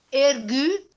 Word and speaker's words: ergu: Ergu. Dove va l'accento? Sulla U che mi perdoni. Quindi ergu.